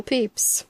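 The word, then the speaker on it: Pepys: familiar it spelled PEP why s clay it pronounced peace peace yeah that's what I thought it was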